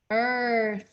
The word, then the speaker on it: earth: live on planet earth earth it's tricky because it's different than in thai we don't say th and tai but in english th says earth very good all right